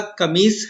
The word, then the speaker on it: قمیص: بھائی میری قمیض سے، یہ لفظ ہم اکثر غلط اس کا تلفظ کر جاتے ہیں، قمیض، اس کا جو درست تلفظ ہے وہ اور املا قمیص ہے، ٹھیک ہے، سوری تلفظ